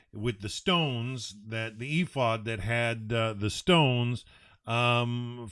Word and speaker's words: ephod: um message uh through a glinting on the ephod um yeah we call it we pronounce it afod that's the Hebrew the Hebrews ifod and uh you got the letters right e-p-h-o-d